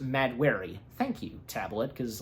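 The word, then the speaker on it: Mahd Wy'ry: earlier, there's a disease that hits Thena called Madwari, if I'm saying that right. Madwari. Okay, yeah, because I'm looking at, but it's pronounced Madwari.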